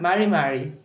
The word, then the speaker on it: mari: Lá é tipo, sei lá, um R do inglês, vai. Porque é Mari. A ideia dá um pouquinho pra trás.